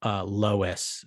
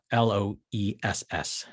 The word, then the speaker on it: Loess: But there's a couple of, it's Loess, Sherry, spelled like I put it in the chat for you. Loess.